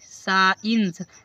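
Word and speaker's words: science: For example देखो यहां पर एस सी आई ई एन सी ई साइंस देखो एस के बाद है सी इसलिए सी को साइलेंट कर दिया गया और साइंस मींस विज्ञान क्या होगा?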